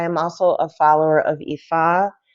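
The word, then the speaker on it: Ifá: a spiritualist I am also a follower of EA it's a a a Trad traditional African religion it's spelled IFA EA um Sania um con blé they all come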